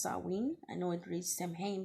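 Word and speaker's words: Samhain: for it okay okay first of all it's pronounced saween okay it is the Festival of the Dead um it is the ancest of Halloween it's pronounced sarwin I know it reads champagne but it's pronounced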